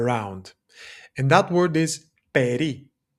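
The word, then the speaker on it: περί: And that word is peri spelled like this peri.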